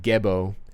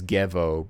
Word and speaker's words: Gebo: interviews maybe but uh they do spell it as gevo but it really should be romanized as gebo but that's how they